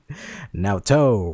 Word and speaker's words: Naoto: Naoto rhymes with hello.